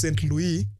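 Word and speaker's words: Saint-Louis: So the first one is Saint Louis, that is the right pronunciation in French, Gori, Dakar, and Rufisque.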